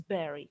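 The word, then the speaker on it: bury: b u r y it is pronounced as barry kakiyagatka and the other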